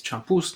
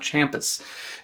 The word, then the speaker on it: champús: I've been saying it wrong. Apparently it's champús, not champus.